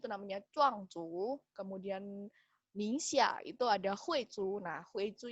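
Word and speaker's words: 宁夏: Dengerin ya cara bacanya. Xizang. Lagi. Xizang. Kemudian nomor 2, nih, Guangxi. Guangxi. Guangxi. Ningxia. Ningxia.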